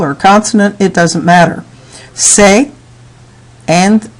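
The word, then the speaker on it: ces: In the plural forms, we really have no problem because the only word we're going to use is say.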